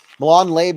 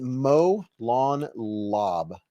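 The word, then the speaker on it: Molon Labe: Milan Lab is pronounced Molon Lob. Molon Lob. Molon Lob. Molon Lob. Molon Lob. Why hasn't anyone ever told me? I've been saying Molon Lab for like what, a year?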